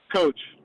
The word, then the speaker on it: Koch: Coach, just like uh the Koch brothers. Okay.